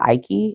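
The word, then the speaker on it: Icke: um children of the matrix um by David Ike I believe is how you pronounce his name and I recently became aware that I guess he is a well-known conspiracy theorist.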